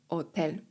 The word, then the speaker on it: hotel: El turista turysta la turista turyst pasaporte paszport El hotel hotel ponownie litera H jest nie ma. Otel, El apartamento Apartament, mieszkanie